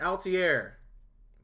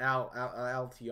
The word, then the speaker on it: Altair: Like, Altair. Boom. Not Altr or something like that.